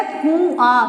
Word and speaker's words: कुआं: तो ये हो जाएगा कुआ, कुआं, है ना, सही। तो ये देखिए उच्चारण तो इसका ये है कुआं।